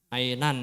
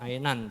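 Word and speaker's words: عينا: maikum la must Ainan ya ini membacanya sesuai dengan e tulisannya aja dulu ya Karena ini belum mengenalkan tentang waqaf jadi masih tetap Ainan jangan Aina ulangi dari isnata 1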